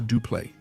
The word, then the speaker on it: Dupleix: Yes, I know there's a debate about the pronunciation, especially of the X, but usage and arguments